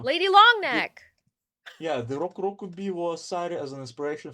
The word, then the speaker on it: Rokurokubi: Also, I And like the way you say rokurokuru rokurokupi. Rokurokubi.